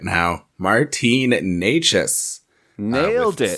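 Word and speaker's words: Nečas: All right, next up, I want to talk about one of the really exciting players in Carolina right now, Martin Necas.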